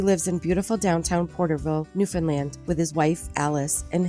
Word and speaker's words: Newfoundland: Newfoundland right Newfoundland I I always tell people you say understand understand Newfoundland Newfoundland yeah I for